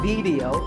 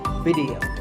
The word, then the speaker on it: video: watching right now video the important thing is that both the eye and the e are pronounced as short it sounds it's not video it's video if you watch a